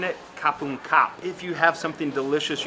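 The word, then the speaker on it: ขอบคุณครับ: ขอบคุณค่ะ Kapung ka if you're a woman, or if you're a man saying it, kapung kap.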